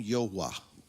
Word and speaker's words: Yahweh: I asked him, I said, can you pronounce the name for me? We called him Yahweh.